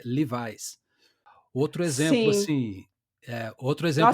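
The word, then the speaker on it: Levi's: Um caso por exemplo clássico que é leves que na verdade a pronúncia é rivais outro exemplo assim outro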